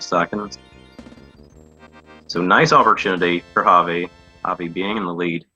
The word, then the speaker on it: Javi: Pronouncing that Spanish J is quite hard because it's not just a H, it's not like Javi, but it's like Javi.